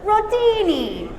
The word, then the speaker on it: rotini: We all say it together, rotini. You gotta say it like your giada, right?